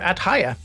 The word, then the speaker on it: Haje: And Haya, what about you? I am mostly on X under @Haya. Which is spelled Haje, by the way.